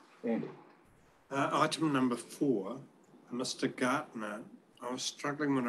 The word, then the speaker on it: Gartner: The Gardner or Gartner? Gartner. Right. It is Gartner.